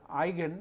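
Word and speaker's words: eigen: an igen value of a matrix this is pronounced as igen this is a German word which means in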